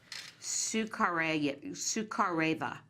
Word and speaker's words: Sukhareva: How did you pronounce her name? Sukhareva.